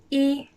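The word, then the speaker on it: 一: a straight line and it's pronounced e in first time repeat after me e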